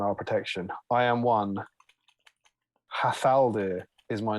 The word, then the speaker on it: Hat Haldir: But his name is Hat Haldir, which I presume at the time would have been pronounced Hathaldir.